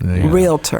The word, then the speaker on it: realtor: I say it's not on the test, but 2 syllables, realtor.